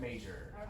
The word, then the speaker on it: major: And I heard like ire, like buyer or Meyer or something like that. Yeah. I know why, because that J and that Y naturally you want to make the y sound, right?